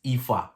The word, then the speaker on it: Aoife: that's what it means it's ifa that's how you pronounce it as in um ee